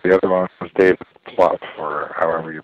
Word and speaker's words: Plouffe: The other one was David Plouffe, or however you pronounce his name. Plouffe is right.